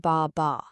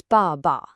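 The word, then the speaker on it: 爸爸: Dad isn't ba ba, it's ba ba. A strong fourth tone on the first syllable, and the second is like this quick, quiet whisper.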